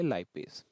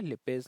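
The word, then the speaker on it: lipase: बोलेंगे, उसको हम बोलेंगे लाइपेज। ठीक है, लिपेज लाइपेज आप जैसे भी प्रोनाउंस करते हैं, तो ये हो जाएगा लिपेज, an enzyme that breaks down fat into fatty acid.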